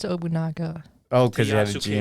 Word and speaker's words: Nobunaga: No, but I don't think it would be Obunaha. Oh, okay. Took a liking I think it's Obunaga.